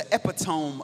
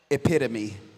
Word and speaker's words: epitome: and I read and he was the epidome of brilliance. And not a second later and not a second later this light-skinned dude from the suburb said epitome right and I my heart sank.